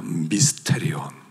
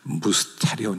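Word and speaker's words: μυστήριον: 미스테리온. 그 무스테리온 이렇게 발음하기도 하고요.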